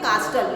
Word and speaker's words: castle: Okay, castle, you will not say castle, you will say castle. T is silent.